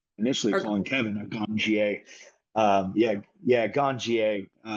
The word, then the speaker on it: Ganjier: Yeah, Ganjier. Very much like sommelier, so we pronounce it yeah, the French pronunciation.